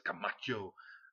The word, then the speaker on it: Camacho: You gotta say it like you can't say Camacho, it's Camacho.